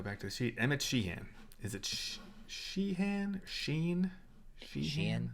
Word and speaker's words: Sheehan: You're right, Emmet Sheehan. I think I knew that was the correct way to say it. I just couldn't say it. That H was really getting me.